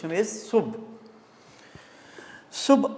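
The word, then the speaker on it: صبح: सुबह हो गई है सुबह लफ इस्तेमाल मारूफ है ओरिजिनल प्रोना सुब सुब अखबारों में अखबार खबर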